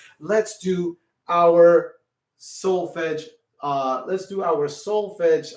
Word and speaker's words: solfege: so again we are dealing with something called solfege everybody say that solfege and it's spelled s spell it with me everybody s o l f e g e solfege everybody say that again solfege okay now